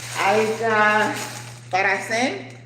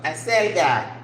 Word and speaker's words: acelga: Swiss chard, we say alga paracen, acelga, ooh, I was way off, acelga, papas, potatoes, peppers, pimiento verde y rojo, red.